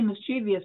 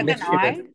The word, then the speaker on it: mischievous: People say mischievous because there's an I in there. But it's so people are starting to drop it. So I think it should be mischievous.